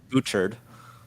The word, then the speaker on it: Bouchard: I mean, Lucien Biard, I cannot pronounce French names. A+ pronunciation. We get nailed on it all the time. Lucien Bouchard.